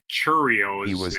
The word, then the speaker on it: Chourio: Murphy told reporters before Pronounces his Friday's name game wrong. Churio is he his was name, not diagnosed a Chowio.